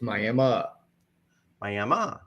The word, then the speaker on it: Miami: is fun it is it is spelled just like Miami as in Miami Florida but we have Tribal ground here so it is a tribal name it is May May okay learn something all